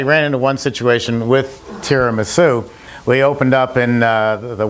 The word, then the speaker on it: tiramisu: So we actually put up on the sign under tiramisu, which is spelled T-I-R-A-M-I-S-U, we put Tara, and then Ma, as in mommy, and Sue, as in the girl's name.